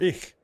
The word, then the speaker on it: ich: I'm speaking German, sweetie, should I say ich or ich? And she said, don't say ich, because if you say it like that, you're going to sound gay. Everybody's going to think you're gay. She said, you need to say ich. It's the right way to say it. It's how us country Germans say it. If you say ich, you sound gay.